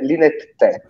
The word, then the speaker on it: Linetti: lingue straniere Ma la pronuncia corretta di Linetti è linett te proprio cioè come fosse linet trattino te con non è linet te esattamente non è te ma è te come che è difficile